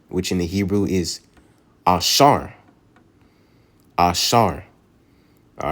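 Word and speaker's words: אשר: number 10 Asher which in the Hebrew is Asar Asar all right in the Hebrew was the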